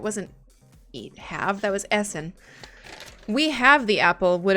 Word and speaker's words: essen: eat have that was Essen we have the Apple would have been um Veer Hassan Den Apple SN is always eat it is pronounced like you're hissing well I've tried to